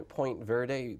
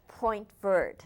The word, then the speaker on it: Point Verde: you were born in point verde placentia bay i don't know if i have that you didn't pronounce it of course point bird yes placentia what was